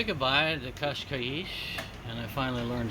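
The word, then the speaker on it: Cascais: well as we say goodbye to kashkaish and I finally learned how to say it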